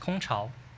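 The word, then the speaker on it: 空巢: It pronounced Kong Chao.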